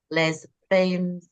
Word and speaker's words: Les Femmes: What's in store for Le Falim? There you go. There you go. The S is silent.